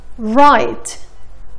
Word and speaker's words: write: ولكن شوفوا هالكلمتين: write rap. حرف ال W قبل حرف ال A ما نطقناه.